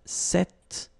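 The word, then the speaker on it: cette: it's quite interesting because if you listen carefully the masculine form here set and The Feminine form here set you write them differently but then you pronounce them the same way all right for the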